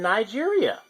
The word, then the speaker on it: Niger: that is Niger and Nigeria there you go right there some people pronounce this as but it's actually Niger so that that pretty